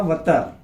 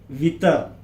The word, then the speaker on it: وتر: अब इसके बाद देखेंगे हम दायरे का वतर। वतर, वितर, सही प्रोनाउंसिएशन उसका वतर है।